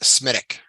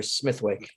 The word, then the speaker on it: Smithwick: hi okay yeah but in Ireland they pronounce Smithwick as smithic as Molly pronounce her last name smithic or Smithwick Smithwick but every time